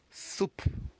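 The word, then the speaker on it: soupe: Ascent we're going to pronounce this word as soup soup soup just like the soup in English so we close the pronunciation with the p soup and of course yes you must have guessed soup in English is simply the soup of course we should drink in French it's written with an e at the end but of course pronounce exactly as the English word soup all right great let's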